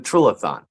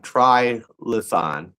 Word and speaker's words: Trilithon: what's known as the Trilithon. And uh if you say it wrong, try lethan.